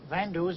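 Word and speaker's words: Van Doos: story behind this yes we are known as vandus by the english-speaking people they have difficulty to pronounce van der jean now come along and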